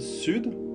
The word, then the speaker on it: sud: So phonetically it is, and however, in the word sud, south, it has to be pronounced.